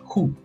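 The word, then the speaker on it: הוא: Ahora, la quinta palabra es la palabra El, que se pronuncia en hebreo Hu.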